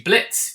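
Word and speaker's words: Blitzø: You know, you've got Blitz or Blitzo, but the O is silent, played by Brandon Rogers, who's a fantastic character.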